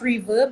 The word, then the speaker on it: RVRB: there is also a reverb webinar series so it's pronounced reverb but it's spelled rvrb uh you can also